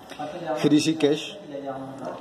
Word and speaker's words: Hrishikesh: Rishikesh, que se escribe como Hri, esa R, con ese punto debajo significa que va acompañada de una I después. Entonces sonaría como Hri, que la H es una J. Hrishikesh, de 8 a 10 de la noche.